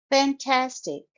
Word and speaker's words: fantastic: works isn't it amazing fantastic it's a three syllable word I have underlined all the syllables and the stress is on the second syllable fantastic tastic fantastic so you will stress Tas second syllable Sarah looks fantastic in